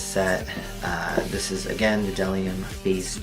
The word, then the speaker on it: bdellium: And again, it's bdellium tools, pronounced bdellium.